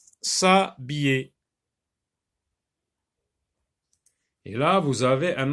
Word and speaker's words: s'habiller: Est-ce qu'on peut dire se habiller? Est-ce qu'on peut dire se habiller? Oui, mais il y a un H muet, donc on va supprimer le E et ça va devenir s'habiller.